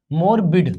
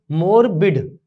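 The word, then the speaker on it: morbid: देखो मोरबिड, तो हम पढ़ेंगे इसको मॉर्बिड, ये होता है मॉर्बिड, प्रोनाउंसिएशन क्या है इसका, मॉर्बिड है।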